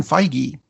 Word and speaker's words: Feige: other things that are on their way Kevin Feige and yes I am pronouncing it right because I called Marvel and